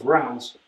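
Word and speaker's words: Reims: All the paraphernalia of coronating French kings, crowning French kings is held in sec security in rounds. Pronouncing correctly now is rounds in the French way.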